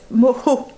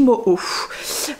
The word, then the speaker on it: mojo: Moho. En fait, ça s'écrit M-O-J-O, mais on dit Moho.